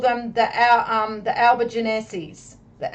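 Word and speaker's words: Albigenses: Catholic church called them the our um the Alba Genesis the Alby Genesis the albigensis and that is spelled a-l-b-i-g-e-n-s-e-s all right so again yeah I'm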